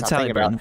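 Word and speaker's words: Haliburton: I'm going to say his name wrong because everybody's giving me shit. No, it's Halliburton. Halliburton, Buddy Hield, and Corey Joseph.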